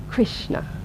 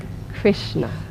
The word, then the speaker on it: Krishna: s and the N which means that it's a pronounced with the tongue pointing towards the roof of the mouth Krishna try that so it's not pronounced Krishna let's try that Krishna which has got an eye in it there's no eyes of course you'll feel